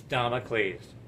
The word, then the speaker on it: Damocles: sword of damocles but is it damocles it's damocles right i couldn't pronounce i couldn't get the pronunciation for domicles it's domicles thank you honey it's the mri of